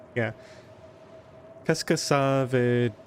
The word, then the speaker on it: veut: And then VEUT is the verb for wanting to do something.